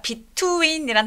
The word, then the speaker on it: between: 자, between이란 단어 발음할 때 얘 T하고 W가 한 번에 빠르게 발음이 돼야 돼요.